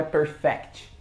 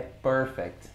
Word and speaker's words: perfect: E atenção que não é perfect. É perfect, ok? Muita gente fala errado, né? Mas perfect. A tônica tá na primeira parte da primeira sílaba, né?